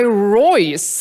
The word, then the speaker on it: Royse: as mentioned before guy royce am i pronouncing your last name right you're pronouncing it perfectly it's like rolls-royce but without the money that's what i thought